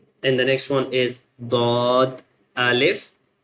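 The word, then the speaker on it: ض: So swad ba and then thaw ba swad ba thaw ba And the next one is dwad alif dwad alif Now we join this one with alif.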